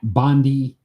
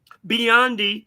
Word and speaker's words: Biondi: And we're starting off in the Olympics with Mark Spitz, Jenny Thompson, Matt Bondi. Biondi.